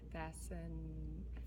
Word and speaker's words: fascinating: And then that's a soft C in there. Can you see it? I'm holding it too. So if you're just looking at that, do you know what a soft C, what sound a soft C makes? It makes a S sound like an S.